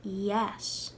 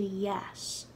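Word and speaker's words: dheas: of the second version the word jazz for nice turned to yes and it's spelled differently d-e-a-s turned to d-h-e-a-s jazz to yes and to say it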